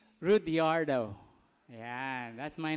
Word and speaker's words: Rudiardo: mahaba ang aking name Pero ah As I pronounce my name rudiardo ayyan that's my name Okay so I am